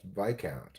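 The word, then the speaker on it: viscount: Obviously, I guess the S must be silent. I have been mispronouncing that this whole time. What is it? Biscount is actually pronounced by count. Vic count.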